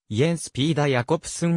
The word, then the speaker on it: Jens Peter Jacobsen: 家植物学者デンマーク語ではいえスピーダーやコプスンに近い発音で発音されるユトランド半島北部の